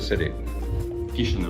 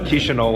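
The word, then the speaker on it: Chișinău: keep saying it wrong how do you say the kisho kisho not even close with me okay kisho when you're in kisho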